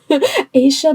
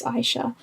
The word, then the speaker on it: Aisha: or an AA sorry I always say ASA because that's how I've always read it in my head even though I know it's Aisha so I apologize if